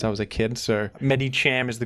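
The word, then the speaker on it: Medicham: my favorite Pokémon in this metag game is meta Cam and I know I I pronounced this name incorrectly but it's how I've pronounced it since I was a kid so Med Cham is the correct pron pronunciation but it's hard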